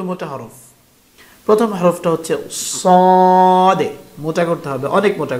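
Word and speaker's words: صاد: উচ্চারণ হবে সাদে, সাদে।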